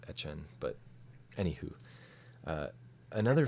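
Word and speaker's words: Etienne: the Jaguars pick 25 Travis etn a or etchen however you want to pronounce it I think he pronounces it at Chen but anywho uh another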